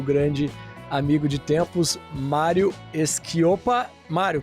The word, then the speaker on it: Schioppa: E hoje eu convidei o grande amigo de tempos, Mário Schioppa. Mário, pronunciei correto o sobrenome aqui? Quase. Schioppa. Schioppa. Faltou puxar.